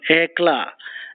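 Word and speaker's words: éclat: is state of anla e c a t the t is silent EA a brilliant show of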